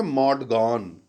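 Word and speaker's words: Maud Gonne: तो जो एक लड़की है, वो भी यंग है, उसका नाम है मॉड गॉन। स्टूडेंट्स याद रखिएगा spelling, MAUD, मॉड गॉन, GONNE।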